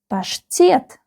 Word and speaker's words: паштет: ПАШТЕТ. ПАШТЕТ. The second syllable is stressed.